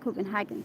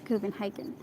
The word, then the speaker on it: Copenhagen: Do I pronounce it correctly? Copenhagen. It's not Copenhagen. Copenhagen.